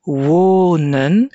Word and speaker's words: wonen: Il faudra faire attention avec les verbes qui ont un son long dans la première partie, comme par exemple wonen. Le son est long parce que la syllabe est ouverte.